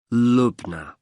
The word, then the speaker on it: Lubna: now I'll just take your details for the booking form can I have your first name yes it's lugna Lubna can you spell that for me l u b n a